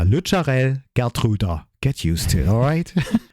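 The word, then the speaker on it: Lutsharel Geertruida: In this episode, you learn how we pronounce the name of our latest Dutch edition. So it's now Lucharel Gertruda.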